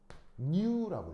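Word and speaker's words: ν: 그래서 어떻게 읽냐면 얘는 읽을 때 new라고 읽어요. new. 그리스 알파벳입니다.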